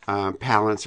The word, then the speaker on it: Palance: putting that out there Palance rhymes with balance I think kalons rhymes